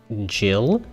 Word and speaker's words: Gil: game i'm pretty sure it's supposed to be jillian and he's supposed to be pronounced jill you know like uh jill bartender jill which is why they get confused sometimes but i'm still